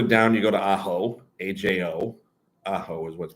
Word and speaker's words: Ajo: And then a little further down, you go to Ajo, AJO. Ajo is what's pronounced.